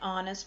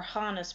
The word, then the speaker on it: honest: H is silent and when H is silent you use an an hour and honor an honest person and each one of these examples you do not say the hot sound we do not say Hauer hotter or Honus person that just sounds silly